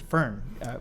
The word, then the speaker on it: Firn: Actually, I pronounced it Firn.